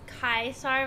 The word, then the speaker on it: Caesar: I haven't finished it a is pronounced a AI in Latin so it's kaisar but Caesar's how it's too often pronounced in movies yes okay so what